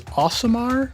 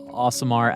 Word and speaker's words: Aasimar: I believe the pronunciation is Aasimar, I want to say. Yeah, a couple of different pronunciations. Aasimar, Aasimar. Aasimar. Aasimar. I just call it Aasimar. Yeah, the one that I think Chris Perkins has settled on is Aasimar.